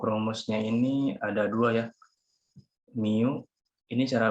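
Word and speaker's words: μ: Mu, ini cara bacanya mu ya.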